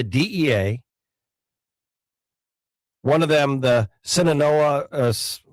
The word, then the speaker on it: Sinaloa: One of them, the Sinaloa, how do you pronounce it, J-Dog? Sinaloa and Yellowstone.